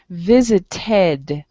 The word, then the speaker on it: visited: Visited. Okay, you want to make sure that the ending of the word sounds like either ed or id.